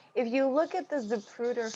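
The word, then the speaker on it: Zapruder: you look at the zupruder film japruder i believe i'm pronouncing that correctly you are there are police to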